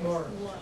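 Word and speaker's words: Maurice: That's pronounced Morris. nice. And we're going to all pronounce it Morris from now on as well, because we feel we're part of an elite group.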